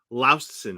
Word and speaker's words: Laustsen: last name correctly right laosen right is that correct correct you have to make a short pause in the middle you know it took